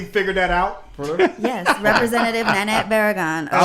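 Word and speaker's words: Nanette Barragán: Nanette Barragan. Is that how you pronounce it? That is Nanette Barragan. Yeah. It is Nanette. You phonetically figured that out? Yes, Representative Nanette Barragan.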